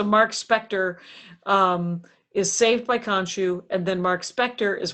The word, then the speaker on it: Khonshu: Khonshu, right? Khonshu. Okay, K-H. Khonshu. Okay. If we're gonna do the Stewie pronouncing Khonshu.